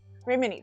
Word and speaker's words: Remini: The MIDI phonetically? Oh, that's right. Remini.